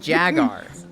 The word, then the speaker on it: Jaguar: don't know what's happening the U is silent it's jagar please let's not get